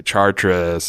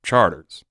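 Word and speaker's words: Chartres: think I'm crazy because it's spelled CH a our PR es and people say Charteris and all this stuff but if you're from the city if you're from New Orleans we call it charters but it went almost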